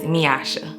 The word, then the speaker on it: Meyasha: and it comes from the correct pronunciation of my name which is miasha and I hated it